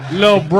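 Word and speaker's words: Lil Brough: He spells bro with 3 silent letters at the end. Lil Bro.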